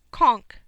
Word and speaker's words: conch: is made from some conch shells pronounced conch Romans and Greeks but